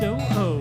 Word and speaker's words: OO: Model view, it's pronounced O-O, not ooh-ooh.